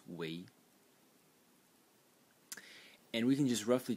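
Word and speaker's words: 囗: And it is pronounced wei.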